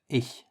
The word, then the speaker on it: ich: The sound is It is essentially the same as the other version, which is like jalapeño, but instead of being pronounced in the throat, try to move the sound to the top of your mouth.